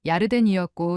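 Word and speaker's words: ירדן: 요단강은 야르덴이었고 시온사는 찌온이었어요.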